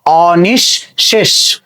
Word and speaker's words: অনিঃশেষ: দেখো এখানে কি আছে, এখানে বিসর্গ আছে, তো বিসর্গ কার পূর্বে আছে, তালব্যস্যের পূর্বে আছে, তাহলে তালব্যস্য কয়বার হবে, দুইবার, অর্থাৎ দ্বিত্ব উচ্চারণ হবে অ নিশ, অনিশ, তারপরে আবার কি হবে, তালব্যস্য হবে, এবং তার সঙ্গে এই যুক্ত ছিল, একার যুক্ত ছিল, সেই একারটা আমরা যুক্ত করে দিলাম অনিশ। এবার দেখো শব্দের শেষে কি আছে, মূর্ধন্যস্য, উচ্চারণ হয়ে যাবে কি তালব্যস্য এর মতো, তার উচ্চারণ হচ্ছে কি অনিঃশেষ। খেয়াল করে দেখো শব্দটা হচ্ছে